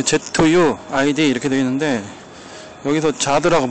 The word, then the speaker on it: Zuid: 저기 ZUID 이렇게 되어 있는데 여기서 자드라고 발음을 하거든요.